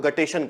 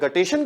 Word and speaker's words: guttation: में, जिसे हम लोग हाइडा, जिसे हम लोग गटेशन कहते हैं।